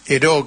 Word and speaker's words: Heraud: Bueno, este el recuerdo de Eró, que yo lo pronunciaba como lo leía, este me trae recuerdo